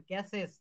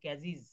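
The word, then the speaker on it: cases: তারপরে দেখেন ক্যাসেস। আমরা বলব ক্যাজিজ। ক্যাজিজ এই উচ্চারণগুলো কিন্তু আমাদের ঠিক এইভাবেই করতে হবে।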